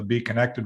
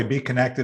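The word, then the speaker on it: BeeKonected: you're hearing it uh it's spelled with a k and the b is like a b so so you know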